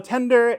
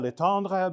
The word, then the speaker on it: Letendre: So, uh, my name is Tender. It rhymes with chicken tender. Uh, if you are my former French teacher, it's Leandre, but it sounds a little douchy.